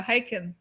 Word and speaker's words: Haken: Rhymes with bacon. There you go, Haken.